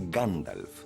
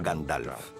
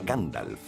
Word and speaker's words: Gandalf: Se pronuncia Gandalf, no Gandalf. Es Gandalf.